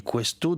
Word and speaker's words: Questo: simple on installe l'application questo donc tu dis questo déjà c'est quoi alors ça s'écrit Q u e s to exactement une